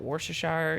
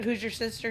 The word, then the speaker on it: Worcestershire: is like lemon lime I'm gonna butcher this word but Worcestershire you know like olive juice but like who's your sister sauce up